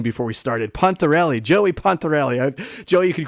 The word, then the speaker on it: Pontarelli: On today's show, we're very excited to welcome, and I should have found out how to pronounce his last name before we started, Pontarelli, Joey Pontarelli.